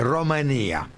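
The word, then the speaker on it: România: En rumano se dice Romanía. Ajá. Es otra vocal.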